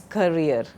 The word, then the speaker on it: career: So, how do you pronounce it? It is career. And this is a carrier. What is the difference? A carrier is someone who carries something, a cycle carrier. Okay, but a career is your job, your profession.